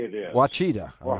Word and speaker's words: Ouachita: Ouachita. Or how you pronounce it. Yeah, Ouachita.